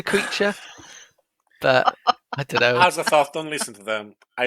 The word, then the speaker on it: Azathoth: Well, he's put at, hopefully I pronounce this right, Azathoth? Azathoth, yeah. Oh, goodness. The blind Azathoth. Azathoth. No. You said it right the first time.